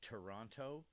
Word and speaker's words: Toronto: If a Canadian says Toronto, it means they're too rich to be bothered to bother talking to um because 99% of Canadians don't pronounce the T in Toronto.